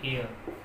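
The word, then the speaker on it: heir: इसका जो प्रोनाउंसिएशन है वो है एयर, इसका मतलब है उत्तराधिकारी। उत्तराधिकारी। और वर्ड हम ले लेते हैं जैसे ऑनर। ऑनर, ऑनर का मतलब सम्मान है। तो ऐसे मामले में यहाँ एच आपका साइलेंट रहता है।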